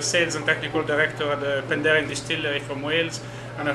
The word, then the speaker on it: Penderyn: of this fine whiskey it's pandaren correct that's right most people tend out tend